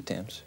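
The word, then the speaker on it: Thames: Waterfront the Tims river is that how you pronounce it the Tims yeah and I'm down by the London ey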